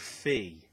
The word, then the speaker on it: Fe: think it was called Fee, but I heard it pronounced Fi and Fay, but I think it's Fee. Perhaps there's Foe and Fum.